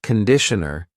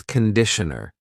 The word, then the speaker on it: conditioner: It's not conditioner. It's conditioner. The first vowel is awa.